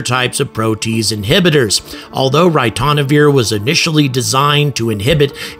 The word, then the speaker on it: ritonavir: orbit by the way well a drug called ritonavir and I think think I pronounced that right at least the computer told